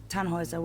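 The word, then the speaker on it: Tannhäuser: why what's your name tanhauser we'd pronounce it tanjoyza with an umlaut german roots yes my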